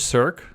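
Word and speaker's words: src: and in the image circ, I like to say circ versus source. If you've watched my videos before, you know I'm just constantly saying circ, literally how it's pronounced versus source.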